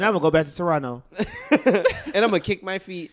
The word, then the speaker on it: Toronto: going go back to Toronto and I'mma kick my feet you don't say the second T Gio I said Toronto